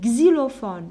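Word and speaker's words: xylophone: alors شنقولو هنا غزيلوفون ما نقولوش كسي غزيلوفون.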